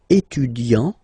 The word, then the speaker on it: étudiant: Okay, so it will of course change a little bit the pronunciation, because you will pronounce it at the masculine form. Il est étudiant.